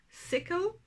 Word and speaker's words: sickle: Alors, d'ailleurs, seed ou semence, c'est un i long. Sickle, c'est un i court, la faucille.